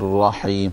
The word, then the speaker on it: الرحيم: So in both places you have to pronounce the ha in Rahman and the ha in Rahim. So the first ha is with a sukoon, Rahman, and the second one is with a kasra underneath, with a, or what we call a zair underneath, Rahim.